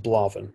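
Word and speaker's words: Blà Bheinn: blavin is a great that's great mountain bizarrely pronounced blaven even though yeah the uh the beauty of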